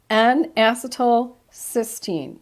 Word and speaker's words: N-acetylcysteine: And this one, this NAC, it's I hope I don't mispronounce this, but I might. N-acetylcysteine, NAC.